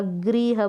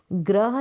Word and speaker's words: गृह: साथ तरीका साउंड आएगा गृह बोलेंगे ग्रह नहीं बोलेंगे हम बोलेंगे गृह ठीक है गृह का साउंड आना चाहिए ये ए की मात्रा ये